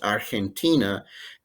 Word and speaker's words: Argentina: chile paraguay uruguay argentina g in front of an e or an i is pronounced like a strong h so it's argentina guinea equatorial equatorial guinea